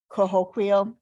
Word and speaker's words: Cahokia: Cahokia.